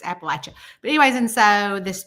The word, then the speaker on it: Appalachia: um there was um which is Apple at you right Amanda like they're throwing an Apple at you that's how you say it um because I think a lot of people call it Appalachia Apple I don't know